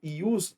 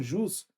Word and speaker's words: ius: porque esse ius e eu pronuncio ius não jus Exatamente porque pode até até ser escrito com i e o s y ele diz aqui faz referência referência ius a lei então quando eu